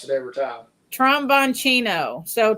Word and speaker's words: Tromboncino: He wants to know how to pronounce it every time. Tromboncino. So Tromboncino.